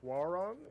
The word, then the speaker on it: Hwoarang: the name wrong, but I want to say Hwoarang. Is that the correct pronunciation? Yeah, Hwoarang.